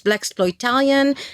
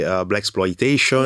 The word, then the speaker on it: Blaxploitalian: You pronounce right, because every time that someone tries to pronounce the title of this film, say Blaxploitation.